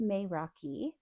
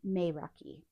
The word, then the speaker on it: Meraki: And the word is pronounced Meiraki. It's spelled Meraki and said Meiraki.